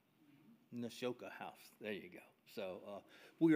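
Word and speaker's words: Nashotah House: Nashota House. Mm-hmm. Nashota House.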